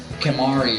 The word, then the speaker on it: Kimahri: At least his name rhymes with sorry.